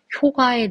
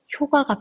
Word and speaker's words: 효과: 이번 경제정책의 효과에 대해 말씀드리겠습니다. 자, 옛날에는 효과가 표준 발음이었어요. 근데 이제 효과도 표준 발음입니다. 언제부터 허용되기 시작했냐면 2017년부터 허용되기 시작했어요. 둘 다 맞습니다.